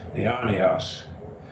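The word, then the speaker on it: αἰώνιος: Raise the accent on the iota. Say it's accented. Eonios.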